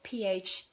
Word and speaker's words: phthalates: Phthalates and parabens are that's spelled PHTHALATES, phthalates and parabens.